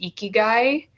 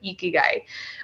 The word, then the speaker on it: ikigai: Yeah, that reminds me of, there's a concept in Japan, I believe it's pronounced ikigai.